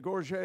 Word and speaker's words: gorget: what was called a Gorge and and French always waste a couple of syllables and when they pronounce things but the gorget is wear it on